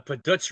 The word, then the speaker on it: Puhdutz: a Puh-dutz revolution. That's And that's something. and that's spelled Puhdutz.